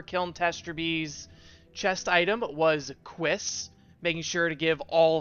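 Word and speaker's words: Cuisse: The correct pronunciation for Kiln Testraby's chest item was Quiss, making sure to give all of the relevant info we need.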